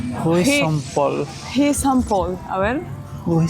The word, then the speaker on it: Rue Saint-Paul: buscamos al traductor para que nos diga la pronunciación exacta. Rue Saint-Paul. Rue Saint-Paul.